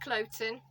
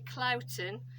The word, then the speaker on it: Cloughton: Anyway, I say Cloughton. I've been in touch with the local primary school for this village with the same name as me, and actually they pronounce it differently. So in North Yorkshire they say Cloughton. My family pronounce it Cloughton, but it's spelt exactly the same.